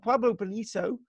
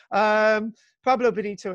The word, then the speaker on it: Pueblo Bonito: problem bonito and and Pueblo Bonito which is usually the wrong pronunciation pablo bonito itself refers to the